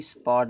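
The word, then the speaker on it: spot: फिर बीच में अगर ओ दिया है ना जो यह ओ दिया इस ओ का उच्चारण देखो बड़ा आ निकलेगा। क्या निकलेगा? बड़ा आ। यहां देखो स्पॉट दिया। स्पॉट माने जगह होता है।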